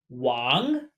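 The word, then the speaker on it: 王: This is pronounced wang.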